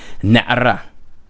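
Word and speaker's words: נַעֲרָה: Okay, notice where the accent is. The accent is on the resh, like I said. Na'ara.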